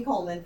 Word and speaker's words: Kohlmann: sorry I forget you can find me Coleman for Texas Coleman is spelled a little funny we we Jo SP